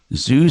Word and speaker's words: Dzus: Zeus? I'd say off the top of my head, no. It's spelled DZUS.